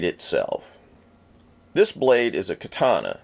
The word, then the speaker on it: katana: This blade is a katana. You'll hear some people stress the syllables in a more Japanese way as katana.